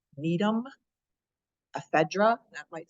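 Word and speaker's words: Gnetum: the first award there Needham the g is silent Needham ephedra that might sound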